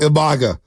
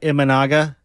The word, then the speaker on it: Imanaga: and what's the guy uh in Chicago IMA imaga am I I don't even know if I'm pronouncing that properly iaga IA save that for